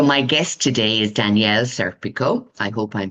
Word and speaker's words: Serpico: Am I pronouncing it correctly? Serpico. You are said, Pico, yes. Serpico.